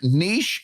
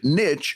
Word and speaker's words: niche: I've actually looked it up, and niche and niche are both acceptable pronunciations. They're both acceptable.